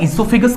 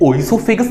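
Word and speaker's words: oesophagus: ध्यान रखना, ईसोफेगस का जो ओ है ना वो साइलेंट है, इसे ओइसोफेगस नहीं पढ़ते हैं। क्या पढ़ते हैं? ईसोफेगस।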